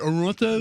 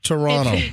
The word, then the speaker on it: Toronto: game five in Toronto how do you say it Toronto no no it's Toronto Toronto you're not supposed to according to Canadians that have scolded me you're not supposed to uh over emphasize over emphasize the second T